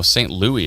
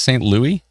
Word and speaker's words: St. Louis: Oh, St. Louis is how it's pronounced. Are you kidding me? It literally says St. Louis. It's pronounced St. Louis.